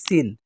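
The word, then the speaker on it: سين: সদ আর সিনকে আমরা সদ সিন উচ্চারণের সময় খেয়াল করব যাতে একই না হয়ে যায়। সিনটা একটু পাতলা। সদটা একটু মোটা।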